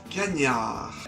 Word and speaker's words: cagnard: ligne bordeaux-grenoble utilisent quotidiennement le cagnard non c'est pas le mot canard prononcé en espagnol les gars le cagnard c'est juste